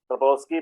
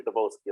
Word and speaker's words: Trompowsky: M is silent. Yeah, the way I pronounce Trompowsky, but yeah, it can be Trompowsky also. M can be silent.